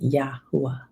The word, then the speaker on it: Yahuah: Those 4 characters, that is the name of our Father. That is the name that's in all the scrolls. It's in the scrolls 6,800 times, and it's pronounced YAHUAH.